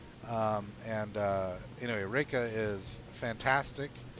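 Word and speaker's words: Reyka: think it's spelled it's kind of like the capital city Rea Vic um and uh anyway Reika is fantastic it's the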